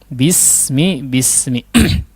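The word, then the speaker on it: بسم: Cara menipiskan huruf sin biar tajam ya, biar tipis dan biar tajam. Jangan ditebalkan ya. Jangan ditebalkan dan jangan ditumpulkan. Itu mudahnya ya. Bismi.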